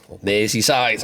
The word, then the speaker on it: Merseyside: Merseyside, as it's supposed to be pronounced.